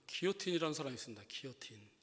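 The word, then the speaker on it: guillotine: 근데 이것이 미국 사람들, 영어권 쓰는 사람들은 길로틴이라고 읽어요. 길로틴. 그러니까 원래 그 영어 쓰는 사람도 기요틴 해줘야 되는데 그 영어 쓰는 사람은 파리 더 페리스 그럽니다. 영어식으로 읽어버리고 그냥 니네 따라가기 싫다 이거죠. 그것도 굉장히 그 자기네 그 싸움하는 거예요. 발음 안 해주는 거. 근데 원래 기요틴인데 길로틴이라고 그래요.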